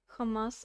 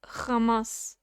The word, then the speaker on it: Hamas: notice something nuk says Hamas isas like Ben Shapiro does it's it's you're supposed to say it like that it's like Hamas it's something in the middle of H and K you're you're right that's